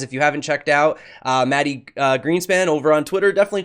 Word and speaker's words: Mati: How do you pronounce you pronounce it with an accent, right? It's Mati. Mati. I just been saying Matty.